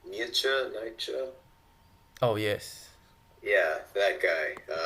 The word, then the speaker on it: Nietzsche: I do not know how to pronounce his last name. Nietzsche.